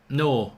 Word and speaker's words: Neuer: Neuer. Manuel Neuer, is that it? Get rid of it. Neuer. Neuer. Neuer. There you go. Manuel Neuer. You see? It's Manuel Neuer.